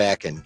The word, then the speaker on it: Aachen: At Aachen, I believe, was this one. At Akron, yeah. At Akron, yeah. Akron. No, I think it was at Aachen. You fucking Ohioan, trying to make it Akron.